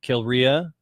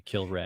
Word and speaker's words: Kilrea: Kilrea. It's actually should be Kilray.